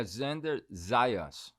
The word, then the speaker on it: Xander Zayas: How do I pronounce it properly? Yeah, Xander Zayas.